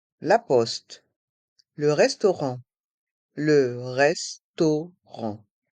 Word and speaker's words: restaurant: Poste le restaurant Le restaurant dans le mot restaurant les voyelles a et U font le son o to et les lettres a et N pr le son en r restaurant et le T est